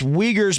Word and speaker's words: Uyghurs: backs of the wiggers and it's uyghurs but it's spelt u i u-i-g-h-u-r-s for those that are thinking that i'm saying something else that was one